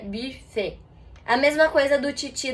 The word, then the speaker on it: buffet: Na verdade, nenhum dos dois, porque em francês esse U tem um som exatamente no meio entre U e I. Então ficaria buffet.